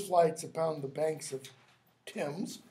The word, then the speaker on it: Thames: upon the banks of Thames. It's got to rhyme with gems.